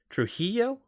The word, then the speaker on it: Trujillo: please no last names Trujillo Trujillo Trujillo Maybe is that better Trujillo there you don't pronounce the L right the Double L Trujillo I think that